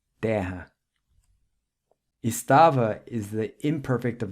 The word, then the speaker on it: terra: And guerrero or warrior in Portuguese is guerreiro, the double R is pronounced with an H sound. Other examples of this would be the word for car, carro, and land, terra.